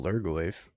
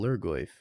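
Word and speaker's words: Lhurgoyf: I don't know how to spell Lurgoyf. It's got an H there. H is silent.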